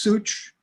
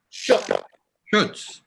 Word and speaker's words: Schutz: Such? Such? Schutz. Like I shook the.